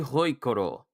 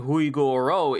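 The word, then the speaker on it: Hui Guo Rou: Seredori Hoikoro. So I've been mispronouncing Huigoro. It's supposed to be Hoikoro.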